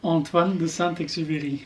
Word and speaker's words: Antoine de Saint-Exupéry: Antoine de Saint-Exupéry. How do you say this? Lawrence speaks French. How do you say Antoine de Saint-Exupéry? Antoine de Saint-Exupéry.